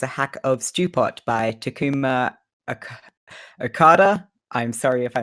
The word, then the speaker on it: Takuma: Yeah, Takuma, like stress on the first syllable.